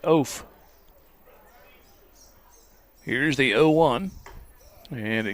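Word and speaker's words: Eoff: balls on the strike last name is spelled e-o-f-f pronounced oaf here's the o1 and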